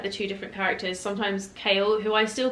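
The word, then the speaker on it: Chaol: not going to lie the way his name is spelled is not kale in my mind and I cannot read it as kale I read it as Chow but I loved throwing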